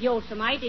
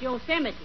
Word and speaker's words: Yosemite: It isn't Yosemite, it's Yosemite. Oh, yeah?